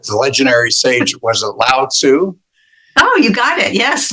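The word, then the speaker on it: Lao: the towel of inner peace and I can't pronounce these names but the legendary Sage was it Lau oh you got it yes Lau all right well let let's talk about that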